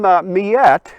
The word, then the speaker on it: Miette: historians suppose that uh the name miyette is a french pronunciation of the cree nation word for bighorn sheep miatak the cree man says about